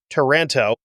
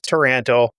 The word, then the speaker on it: Taranto: Taranto is a city in Italy that's spelled differently than the city of Toronto in Canada. But it sounds like if you were from Minnesota and said Toronto, that's how it's supposed to come out, according to the Google